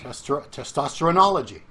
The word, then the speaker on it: testosteronology: Testosterone, drop the E and add O-L-O-G-Y. Testosteronology.